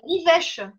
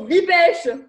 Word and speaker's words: livèche: Ah, la livèche. Ça s'écrit comment? L-I-V-E accent grave C-H-E. D'accord, bibèche. Livèche. Oui, avec un L, Juliette.